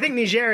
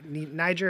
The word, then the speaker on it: Niger: Well, I think Niger is right. Niger is like the French pronunciation.